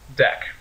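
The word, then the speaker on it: deque: a deck I know it looks like DQ in fact I know it looks horrible in my bad handwriting but this is pronounced deck and it's a special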